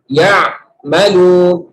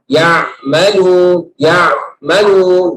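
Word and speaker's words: يعملون: Nomor 2, artinya dia memutuskan ya'malun. Itu namanya batter. Itu bahasa Arab batter, artinya di-cut sama dia. Dan seolah-olah itu terpisah. Ya. Ya'malun. Padahal nggak boleh, harus diucapkan ya'malun.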